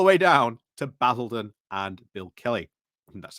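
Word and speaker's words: Billericay: Durham all the way down to Basildon and Bill Kelly.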